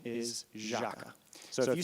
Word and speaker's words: Jâca: But the official pronunciation is Jâca.